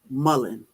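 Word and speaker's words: mullein: homesteaders and the how do you spell it it's spelled m-u LL e i n Mullen and I'll I'll update the title on when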